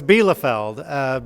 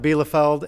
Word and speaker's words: Bielefeld: How to pronounce the last name. And I'm teasing Cheryl, but it's Bielefeld. Bielefeld, and it's important to my story because my